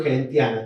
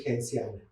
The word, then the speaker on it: Gentiana: Género gentiana. Todo el mundo dice gentiana. En realidad se pronuncia genciana.